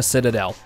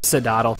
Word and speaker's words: Citadel: time constraints, there's no excuses for excluding Savannah Citadel. Yes, I learned how to pronounce it. Shut up, Sidaddle.